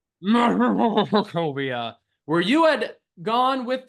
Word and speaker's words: Markovia: had all gone to the Abbey of Saint Martakovia. I believe I keep getting the damn name wrong and I keep hesitating. Yes. Markovia. Markovia, where you had gone with the wedding dress